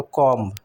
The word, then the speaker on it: comb: तो कॉम्ब, इसमें B silent होता है। इन कॉम्ब बी completely silent, you say comb not comb.